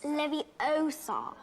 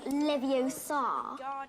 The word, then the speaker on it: Leviosa: you're saying it wrong it's Leviosa not Livio sod you do it then